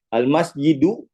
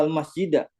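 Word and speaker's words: المسجدُ: Al-masjidu kabirun. Dhammah dua-duanya ya. Jadi antum nggak bingung ini al-masjidu apa al-masjida. Udah jelas isim di awal kalimat sempurna berarti mubtada, berarti bacanya dhammah.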